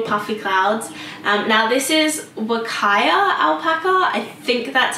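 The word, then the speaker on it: Huacaya: Now this is Wakaya alpaca. I think that's how you say it. It is spelt with a H but pronounced kind of like a W.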